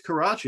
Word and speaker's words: Karachi: remember where karachi but you gotta be careful how you pronounce it because it just sounds like you're saying crotch oh yeah i think it's karachi it's a a big